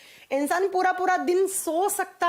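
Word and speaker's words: tsetse: ऐसे लिखा जाता है उसे सी फ्लाई। जब प्रोनाउंस करते हैं तो टी साइलेंस साइलेंस हो जाता है। सी सी मक्खी।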